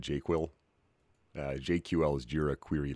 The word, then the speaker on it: JQL: Als uh Banditfist um I like to pronounce it jQuil.